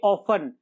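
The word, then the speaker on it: often: इसमें देखिए ऑफन, last में TEN आया तो टी साइलेंट हो गया।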